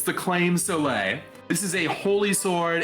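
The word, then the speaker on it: Claimh Solais: here this is the claim so late I know that's not how it's pronounced but it's how it's pronounced within the Castlevania Community it's the claim Soleil this is a holy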